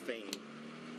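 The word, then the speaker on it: Phayme: His name, last name is spelled P-H-A-Y-M-E, pronounced Fame.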